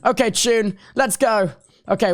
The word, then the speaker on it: Chune: Oh, and also, oh gosh, how do I pronounce it again? I'm sorry. Call me Tune. Okay, Tune, let's go.